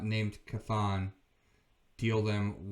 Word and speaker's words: Chthon: Am I pronouncing that right? Chthon? Chthon, yes.